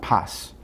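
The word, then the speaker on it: πᾶς: The word whosoever in the Greek is paj. Paj. It's pronounced pas.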